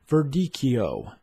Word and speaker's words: Verdicchio: video you are going to learn how to pronounce verdikio ver di ki o you can purchase all